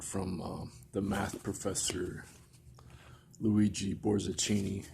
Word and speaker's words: Borzachini: have the quote from the math professor luigi Borzachini (Pronounced like Zucchini with a K] in the back